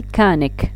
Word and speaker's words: mechanic: we have words that are written in ch بصح ننطقوهم ك. okay، ما ننطقوهم لا ش لا تش بصح ننطقوهم ك. like mechanic ما نقولوش mechanic نقولو mechanic. sandwich okay, so we have